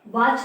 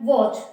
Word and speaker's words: watch: अब देखना जिसमें W के बाद A आ रहा है तो मोस्टली उनकी प्रोनाउंसिएशन ओ, साउंड ओ देता है, वॉच, वॉट, वॉज।